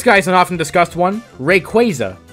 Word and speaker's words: Rayquaza: an often discussed one Rayquaza not Rayquaza it comes from quazar which is a galactic phenomenon even if quaza might